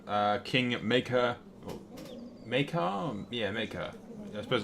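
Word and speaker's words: Maekar: King maker maker yeah maker I suppose it's RAR you don't pronounce the E maker maker the black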